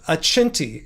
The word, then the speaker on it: Accenti: The name of the wine brand, it looks like accenty, like accent, but I think they're playing off the Italian pronunciation. Accenti, Accenti.